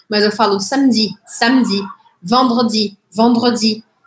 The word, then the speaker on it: vendredi: Tipo, eu não falo samedi, mas eu falo samedi, samedi, vendredi. Vendredi. É com o R, o fato é que eu não pronuncio tanto o E. Eu vou pronunciar o R, puxar o som do R, tá?